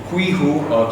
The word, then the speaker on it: Qiku: It is pronounced as QiKU, QiHOO is the name of the UI.